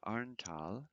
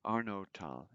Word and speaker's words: Arnotal: Oktober 1433 in 1433 Filione in Arntal. in Filione im Arontal, Actually, it's Arnotal. Was, I mispronounced that.